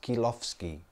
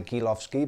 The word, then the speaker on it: Kilowsky: in lucky it's pronounced keel offski they pronounced it the Oh W kil o WS KY and o W is like an F in Latvia or Poland so they say ghilaf ski but as Klaus key